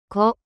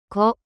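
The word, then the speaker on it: コ: Ko, Ko, The pronunciation of character Ko in Japanese is something like the combination of KOH in English.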